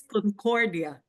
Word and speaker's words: Concordia: Today, I have Concordia, and she is a transformational coach of Dream to Rise. Did I say your last name correctly? I've been practicing it all day. Actually, it's Concordia.